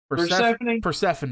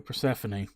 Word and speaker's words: Persephone: name Persephone yeah thank you Persephone but yeah it's like hard is that just take out Stephanie and put the purr in front of her Symphony